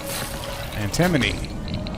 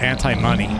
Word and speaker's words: antimony: crystals that's the best antimony that is how you say it right when i was little i used to call it anti-money well you got to